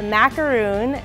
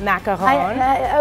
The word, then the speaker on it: macaron: Or the coconut macaroon at Passover. Yeah. Right? Sometimes dipped in chocolate. Totally different. Okay. I don't speak French. I'm from Jersey, so I say macaroon, not macaron.